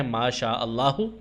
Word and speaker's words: ما شاء اللہ: اور دوسرا ہے انشاءاللہ۔ اس کا تلفظ ذرا سمجھ لیں، ما الگ لفظ ہے، شاء الگ لفظ ہے اور اللہ الگ لفظ ہے۔ ایسے ہی ان الگ لفظ ہے، شاء الگ لفظ ہے اور اللہ الگ لفظ ہے۔ انشاء اللہ اور ما شاء اللہ یہ اس کا صحیح تلفظ ہے۔ بچوں کو یہ تلفظ